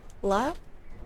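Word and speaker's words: Lugh: This is silent. GH, right? La?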